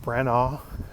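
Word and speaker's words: Branagh: Venice it's one of the Kenneth branaugh that's how you say his name Kenneth bran one of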